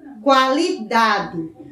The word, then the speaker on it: qualidade: palavra aquário qualidade quando nós pronunciamos aquário aquário qualidade oo é pronunciado outra palavra teku ela tranquilo oo também